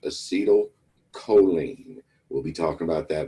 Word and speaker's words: acetylcholine: and the other one is pronounced acetylcholine.